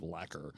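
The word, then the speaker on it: lekker: Cuz it from you I thought it was liquor, but you're sounds like you're saying it like lacquer. Lacquer. That's some of that is the accent in play. The word is spelled L E K R and that comes from Africans.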